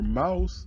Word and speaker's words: Maus: The Maus, or Maus, as it's pronounced, the word Maus means mouse in German.